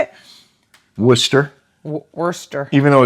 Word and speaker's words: Worcester: five Worcester Mass wow well how would you pronounce that wer I think I used to say Worchester until somebody somebody corrected how do you say it Worcester Worster even though it's w r c s t